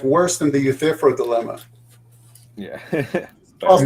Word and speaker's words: Euthyphro: What if this is, you know, like worse than the Euthyphro dilemma? Yeah. Almost like Connections don't always connect. Euthyphro. Anyway. Euthyphro is how you pronounce that.